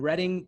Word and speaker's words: Reading: It's actually pronounced Reading. Reading. So, well, yes. Well, it phonetically it looks like Reading. It's pronounced Reading, but yeah.